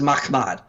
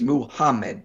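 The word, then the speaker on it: מחמד: This is Mahmad. You don't add an additional syllable in there to get Muhammad. Notice Mahmad is 2, Muhammad is 3.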